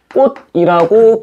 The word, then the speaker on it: 꽃: 그럼 저기 있는 플라워의 의미를 가진 꽃은 기억니은 디귿, 리을 미음, 비읍 이응 중에 뭐라고 발음하는게 낫겠어? 디귿으로 발음하는게 맞겠지? 이거이 정도는 우리가 한국인이니까 할 수 있어요. 여기 있는 꽃은 꽃이라고 발음을 해야 된다이 얘기야. 되시겠죠? 그럼 잘 봐. 원래 음절에서는 원래 음절에서는 치이었어. 근데 실제로 발음될 때는 뭘로 발음한다? 디귿으로 발음한다이 얘기지.